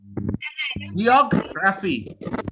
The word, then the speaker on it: geography: Geography. Geography. Uncertain. Hold on. I know everyone is excited now to learn English. I know. We do not say geography. What do we say? Geography.